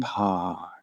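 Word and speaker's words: Paur: Yeah, it's like that, yeah, but it's spelled like purr, like P-A-U-R, so it also makes me think of like a cat, like Frank Parr.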